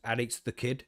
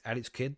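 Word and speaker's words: Alex Kidd: So many people pronounce it wrong as Addex the Kid. And it's not Addict the Kid. It's Alex Kid. That's his name.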